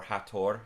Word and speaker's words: Hathor: an aspect of of hathor or hator as it's pronounced in Egypt and the the Trinity